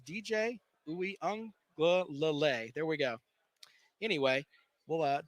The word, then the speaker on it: Uiagalelei: We also had an interview with Clemson quarterback who I'm working on pronouncing his name correctly. It's DJ Uiagalelei.